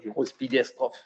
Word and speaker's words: Groß-Biederstroh: Alors je vais prononcer la localité, c'est Groß-Biederstroh. C'est ça, hein, Groß-Biederstroh.